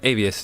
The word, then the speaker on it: Avius: How do you say that, Avius? Avius. Yeah, Avius would be correct.